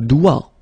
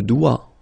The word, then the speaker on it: doigt: Le doigt, le doigt, okay, so don't be frightened by this G because basically you don't pronounce it and then the final T you don't pronounce it. So the only thing you get to pronounce is this combination of three word or letters, sorry, here, D, O, I. Okay, O-I, it's wa, and then D, doigt, that's the only thing, doigt, le doigt, okay.